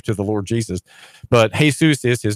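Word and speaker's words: Jesús: guess not not to claim that the same syllables for a man that one would give to the Lord Jesus but hey soos is his name he's a little hard to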